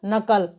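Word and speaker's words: knuckle: एन यू आया है तो जब के बाद एन यू ए तो वहां पर के साइलेंट रहता है तो साइलेंट का मतलब है इसका उच्चारण यहां पर नहीं होगा के का तो इसलिए इसे साइलेंट लेटर का रहे हैं हम तो नु सी के एल ए को हम क्या पढ़ेंगे यहां पर नकल आगे हमारा एल साइलेंट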